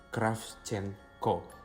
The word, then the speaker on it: Kravchenko: Yaitu bacanya Kravchenko.